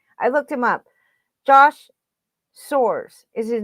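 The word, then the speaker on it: Sborz: that i have with all the uh pronunciation pronunciations of the player's names i looked him up josh soares is his name okay he's 27 years old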